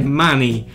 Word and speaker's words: Money: Money, scusate, la pronuncia corretta è Money.